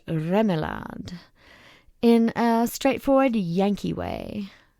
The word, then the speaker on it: Remillard: the family name is fairly common one now pronounced remad in a straightforward Yankee way as far as